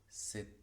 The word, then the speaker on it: cet: Cet, de cet arbre, es una palabra cuya T final sí se pronuncia en todas las ocasiones, por lo que esto es un encadenamiento.